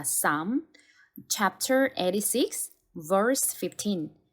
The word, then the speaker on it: Psalm: 시편은 여기 안내에도 잠시 나와 있듯이 보시면 P와 L 이 묵음입니다. 그래서 Psalm이라고 읽어주시면 됩니다. Psalm, chapter 86, verse 15.